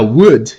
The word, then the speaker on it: would: tempo explicando é a would. Would, parece a pronúncia do Wood do Toy Story, né? Mas é would. O spelling é W-O-U-L-D. W-O-U-L-D, would.